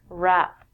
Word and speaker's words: wrap: We don't say the W when we say this word wrap.